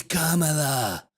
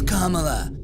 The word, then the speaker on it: Kamala: Camala Harris K Kamala if you really want someone to listen listen to what you're saying you should probably pronounce their name right period question mark H it's it's Kama it's Kamala okay it's Kamala if you really want